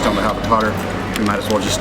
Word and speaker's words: Qatar: If I was speaking proper Arabic, I would make that cool little sound that they make, and I would say Qatar. It doesn't really even sound good when you're an English speaker to hear the word gutter.